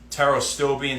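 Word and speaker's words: pterostilbene: I'm sure you know teros stillbine spelled with a silent P in the beginning.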